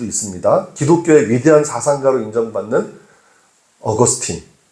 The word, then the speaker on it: 어거스틴: 기독교의 위대한 사상가로 인정받는 어거스틴. 요즘에는 우리 학교에서 아이들이 배울 때는 아우구스티누스라는 용어가 더 익숙할 거예요. 어거스틴은 영어식 발음이죠.